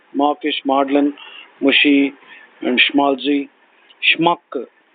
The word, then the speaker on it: Schmuck: Schmuck. Schmuck, S-E-H-M-U-C-K or S-H-M-U-C-K.